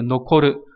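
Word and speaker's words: 残る: Thì âm cương của chữ tàn là noko, trong từ nokoru là tự động từ, nghĩa là còn lại, sót lại.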